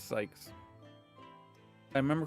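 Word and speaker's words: Zieks: I know that it's spelled Zekes, but I think it's meant to rhyme with yikes. Therefore, I pronounce it zees. Actually, it's Sykes.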